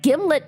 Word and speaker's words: Gimlet: Um, a jar of Gimlet peanut butter, a brand primarily noted for arguments about how to pronounce it. Uh, according to the manufacturer, it rhymes with Himlet.